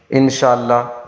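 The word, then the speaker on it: إن شاء الله: کوئی کچھ کہتا ہے۔ اس کا تلفظ اس طرح ہے، انشاء اللہ۔ اب انشاء اللہ، اللہ کے جو ہاء ہے اس کو وقف کی وجہ سے ساکن کیا جاتا ہے، پھر اس کو پڑھا جاتا ہے اللہ۔ پورا مکمل اس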